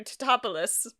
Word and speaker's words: Tatopoulos: Well, technically, wouldn't it be Dr. Tatapalopaticus? Tettopolis. Dr. Tatopoulos. Tatopoulos. It would be Dr. Tatopoulos.